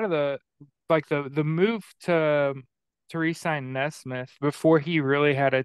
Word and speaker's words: Nesmith: And like I said, a lot of the move to re-sign Nesmith before he really had a chance to is that how you say his name? Yeah, Aaron Nesmith. Nesmith.